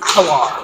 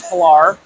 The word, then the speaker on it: Pillar: Can confirm pronunciation is Pillar, not Pillar. Pillar, all right. And I will let the record reflect. Tim thought it was Pillar. I was sure it was Pilar, and I was wrong.